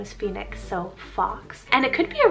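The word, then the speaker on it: Fawkes: without naming one so this is the name fox spelled f-a-w-k so this one's a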